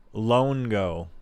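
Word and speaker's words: Loango: Luango. Longo. That's how you pronounce that. Longo.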